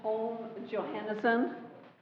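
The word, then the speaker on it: Holm-Johannessen: do we have two more my name is home johanerson you want me to spell it yes h o l m hyphen Johannesen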